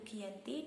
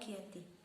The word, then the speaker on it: Giyanti: Pelafalan dalam bahasa Belanda yaitu Giyanti dan dalam bahasa Jawa Giyanti.